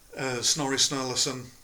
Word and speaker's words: Snorri Sturluson: But one of the problems is Snorri Sturluson. Yeah, I pronounced his name right.